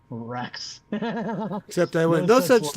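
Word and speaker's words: Reks: thank all the gods LOL a normal name Rex except I went no such luck it's pronounced it's spelled r KS correct all right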